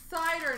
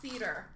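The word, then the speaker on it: Seider: nice dazzlers of cider i've been told it is pronounced cider now not cedar eric's brought us astray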